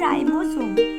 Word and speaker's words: রাইবোজোম: রাইবোজোম, এখানে দন্তস্ব লেখা হলে এর উচ্চারণটি হবে রাইবোজোম, জৈবিক প্রোটিন সংশ্লেষণ ঘটায়।